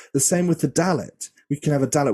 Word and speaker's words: Dalet: The same with the Dalet. We can have a Dalet with a dot or without a dot, and for me, I always pronounce it like a D sound.